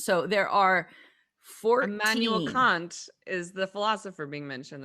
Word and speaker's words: Kant: I was told that K-A-N-T, right? Correct way to pronounce it is very close to the bad word that I can't say.